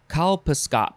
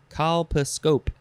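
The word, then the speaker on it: colposcope: some reason next is kalpaskop no nope nope that's not how you say it call pascope there's scope at the end calpascope noun from 1937 a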